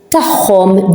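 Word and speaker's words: tagħhom: So we pronounce it as a h, mahom, with them. Mahom means with them. As you can hear it, h, mahom, tahom, theirs.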